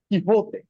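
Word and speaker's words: Quixote: খুব সম্ভবত নোবেলটা হচ্ছে ডন কি হতে এখানে কিন্তু এটার উচ্চারণ হল কি হতে ডন কি হতে ডন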